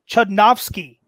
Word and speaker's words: Chudnovsky: Tim, to tie up the game for 3 points in Mixed Bag, who plays the main villain, Chudnovsky, in Green Hornet? Good pronunciation there.